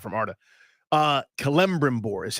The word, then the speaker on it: Celebrimbor: The real Elven pronunciation is Celebrimbor.